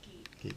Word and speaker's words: Geck: It is pronounced geek.